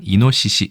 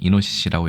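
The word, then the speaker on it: イノシシ: 싸리나무를 일본에서는 하기라고 얘기하고 멧돼지는 이노시시 좀 길죠 발음이 이노시씨라고 얘기합니다 출자입니다 다복숙 숫자이고 이것은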